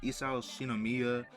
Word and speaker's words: Isao Shinomiya: because he's pretty powerful, especially since he absorbed Isao Shinomiya, that's how you say his name.